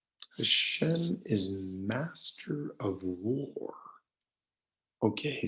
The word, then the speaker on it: Hashem: Okay, well, Lord, again, remember, is the translation of the 4-letter name, which we pronounce Hashem when we're studying.